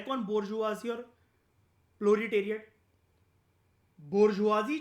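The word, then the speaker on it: bourgeoisie: नाम है दो एक नाम वो बोलता है बोरजुआजी बी ओ यू आर जी ई ओ आई एस आई ई ये स्पेलिंग होती है इसकी बोरजुआजी की मैं आपको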